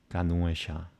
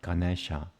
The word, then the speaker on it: Ganesha: Like, and I said this before, the word Ganuesha, the elephant god, Ganuesha. That's how you say it correctly. I know that for sure. It's not Ganesha. It spells different in the Devanagari.